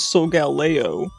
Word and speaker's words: Solgaleo: Pronunciation for Solgaleo. Solgaleo. This says Solgaleo.